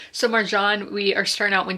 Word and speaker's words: Marjan: But once we get into the actual collection, we have Marjan, is how you say her name, according to a YouTube video I watched. So Marjan, we are starting out